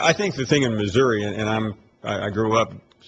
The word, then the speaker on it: Missouri: a little more Southern they pronounce Missouri Missour uh but you're right